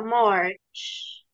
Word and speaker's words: March: تبقى مارش. مارش. بص، مارس وإبريل ومايو ويونيو ويوليو وأغسطس. أغسطس لحد أغسطس. أنا عارفة أنطق.